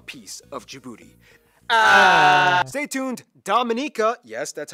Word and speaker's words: Dominica: everyone wants a piece of djibouti stay tuned dominica yes that's how you pronounce it is coming up next all